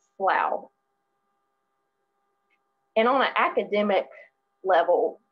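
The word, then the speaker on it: سڵاو: kurdish which is pronounced slough even though it looks like slaw they pronounce it slow and on an academic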